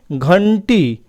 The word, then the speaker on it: घंटी: है अंग जैसा हुआ वही घंटी तो घंटी में क्या है ये मर्दन न जैसा उच्चारण हुआ संत इसमें दंत न